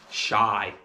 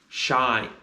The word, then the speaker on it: shy: in public shy and the sounds of shy are sh I shy and you might notice the letter y is making a different sound at the end of the word at the end of the word it can make the sound I it can also make the sound e the next word is